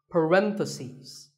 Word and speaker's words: parentheses: stress is on random if you're talking about both the plural is parenthesis the last syllable becomes cease parentheses word number 47 is